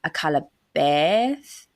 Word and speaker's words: Akallabeth: They said, if you want to sound très fancy, the E in Akallabeth sounds like a Canadian A. So Akallabeth. Akallabeth.